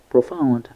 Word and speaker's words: profound: Profound has 2 syllables, and the first one is pro with the o like in go, and found like the past simple of the verb So find, found. So we have profound, and the stress is on the second syllable, found.